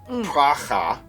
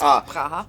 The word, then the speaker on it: Praha: I went to a place in Prague, Praha, I believe. Praha. Praha. They sometimes pronounce it as. It's Praha. Praha.